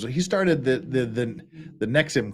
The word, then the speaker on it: NXIVM: with uh this is the nexim the nexim cult now that I'm told that's how we're supposed to pronounce it and it you know